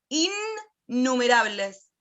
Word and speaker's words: innumerables: Es innumerables, con doble N. No es innumerables, es innumerables. Como se pronuncia 2 veces la N en la palabra.